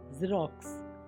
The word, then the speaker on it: Xerox: Next is ज़ेरॉक्स, XEROX ज़ेरॉक्स प्रतिलिपि। इसकी भी बहुत इंटरेस्टिंग कहानी है।